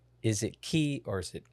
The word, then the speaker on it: Cay: of like, is it Key or is it K? There's like the back and forth. Here's the thing. Disney calls it Key, so in this conversation, we're calling it Key. C-A-Y is pronounced Key.